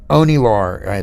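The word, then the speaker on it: Onielar: somebody oni laura that's how you pronounce her name from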